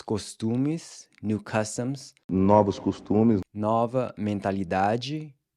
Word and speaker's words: nova: One thing to note here is that “**NO-vos**” and “**NO**-**va**” are pronounced with an open O, as in the “awe” in “BOS-ton”.